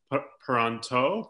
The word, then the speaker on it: Peronteau: this is actually my accountant and bookkeeper deal pronto and hopefully I pronounced that your last name correctly that's correct